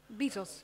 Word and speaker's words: Bezos: Is it Bezos or Bezos? Bezos. Bezos, okay.